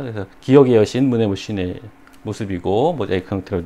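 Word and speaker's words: Μνημοσύνη: 이거 H로 써 있지만 에 발음이 나는 거거든요. 문에 그 다음에 이렇게 쉬네 이렇게 된 거예요. 그래서 기억의 여신 문에 쉬네 모습이고 모자이크 형태로 된 그림 멋있죠.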